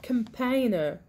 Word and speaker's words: campaigner: miss like I did now that the G here is a silent letter so we have campaigner compiler compiler and if